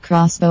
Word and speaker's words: X-Bow: x-bow has 3000 km the KTM x-bow pronounced crossbow is an ultra light